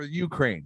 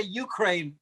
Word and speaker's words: Ukraine: russians i like the way you say ukraine not ukraine ukraine because i always want to say the ukraine so i have to really focus on justice so go ukraine roy hardy's right you say it like youtube you weirdo